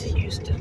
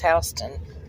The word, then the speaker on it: Houston: be on the left it's Houston not H I don't I've never heard it pronounced hon I don't know why I mean I'm there's no other way that would be pronounced than Houston is it even open